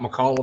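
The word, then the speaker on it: Micallef: topnotch this is a great cigar check out malli cigars m i c a l l e f uh that's how you spell it and I'm saying it right so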